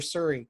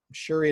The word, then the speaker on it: Shuri: Shuri or Suri, because Suri is the app. Shuri is the sister.